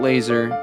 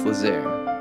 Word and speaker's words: Lazair: It's not Laser, it's Lazair. It's also French Austrian.